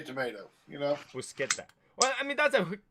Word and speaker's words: bruschetta: Because they say it's pronounced bruschetta. Bruschetta is pronounced bruschetta.